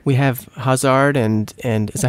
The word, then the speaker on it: Hazard: We have Hazard and is that how you say his name? Yeah, Hazard, yeah.